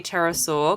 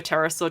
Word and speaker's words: pterosaur: Um, why can't you hear a terasaur go to the bathroom? I don't know why. Because the P is silent.